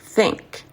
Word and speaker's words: think: Il faut ouvrir la bouche, desserrer les dents et mettre votre langue, placer la langue entre les dents.